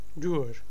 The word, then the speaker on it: duur: Duur. U. U is pronounced as U. Duur.